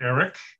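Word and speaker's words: AIRC: i discussed dod's new acquisition innovation research center pronounced eric which includes nps as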